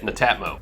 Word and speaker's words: Netatmo: And that by the way is how you say it, Netatmo.